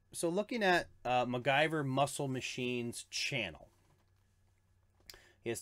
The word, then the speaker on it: MacGyver: Pronounced MacGyver.